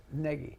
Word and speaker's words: Nagy: So, Joe, Nagy spelt with a G. Joe, G-N-A-G-Y. Nagy.